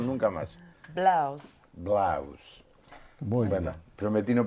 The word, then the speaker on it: Blow: Bien, una sola vez en el programa y prometo no volver a pronunciarlo nunca más. Blaus.